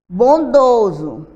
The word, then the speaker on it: bondoso: Bondoso, 3 sílabas. Olha o S ali, ó. Um som de Z.